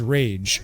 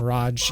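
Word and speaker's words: Raaj: This guy is named Rage, and he hates it when people call him Raj, even though it's R-A-A-J.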